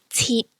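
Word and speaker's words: 鐵: IT is like eat from sheet. Again, you don't pronounce the T. Example, teat, which means metal.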